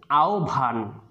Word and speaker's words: আহ্বান: তোমরা একটু খেয়াল রাখবে যে আহ্বান বানানটি রয়েছে আ, হয় বয় আকার, দন্তন্য। এর উচ্চারণটি আমরা করব আহ্বান, এটা আমরা সবাই খেয়াল রাখব।